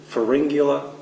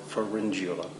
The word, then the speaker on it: Pharyngula: You can either pronounce it Pharyngula or Pharyngula. Either way works.